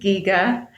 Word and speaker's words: Giger: is the correct pronunciation well the the correct pronunciation is most definitely Giga I have it on Authority from the HR